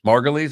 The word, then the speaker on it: Margulies: and i don't know if she's one or another one i don't know well that's what it was julianne margulies margolies margulies is how you say her name uh er